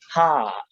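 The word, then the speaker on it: ห้า: plus are in thai the number five pronounced ha so which means we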